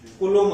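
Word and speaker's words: Coulomb: चार्जचं unit कुलोम्ब असतं. चार्जचं unit असतं कुलोम. तर चार्जचं युनिट असतं कुलोम. कुलोमचं स्पेलिंग बघा जरा विचित्र आहे. हा कुलोम, हा ऍक्च्युअली कुलोम.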